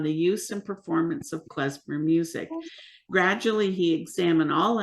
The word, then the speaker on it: klezmer: word, a compound word, which is pronounced actually klezmer in Hebrew. And it's very simple. Clay means tools or utensils. Zemer means melodies.